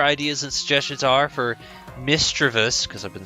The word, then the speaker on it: Misdreavus: Today we're looking at, it's pronounced Misdreavus and Mismagius.